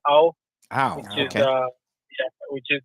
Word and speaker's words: Ao: AO stands for blue. It's pronounced ow.